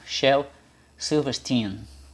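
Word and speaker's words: Shel Silverstein: cientista Albert as mas a pronúncia do Shell aí É essa mesmo Shell silverstein como pronuncia o nome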